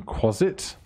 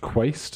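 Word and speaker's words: Quasit: a scroll of summon closet not quast as i previously had been pronouncing it it's gold for everybody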